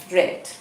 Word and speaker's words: read: to pronounce it differently i read books i read the spelling remains same only the pronunciation changes all right right all right yes it is pronounced as red okay so they are